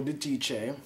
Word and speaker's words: Giudice: Yes, I just finished watching Watch What Happens Live with Anthony Cohen and his one-on-one special with Teresa Giudice and Joe Giudice. That's the pronunciation of their names.